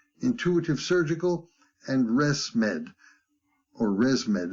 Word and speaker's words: ResMed: Boston Scientific, Stryker, Intuitive Surgical, and ResMed, or ResMed, it's spelled R-E-S-M-E-D.